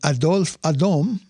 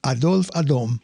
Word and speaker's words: Adolphe Adam: Now, later that same year, a fellow by the name of Adolphe Adam, I know it looks like Adolf Adam, but I'm pretty sure it should be pronounced Adolphe Adam, he set it to music.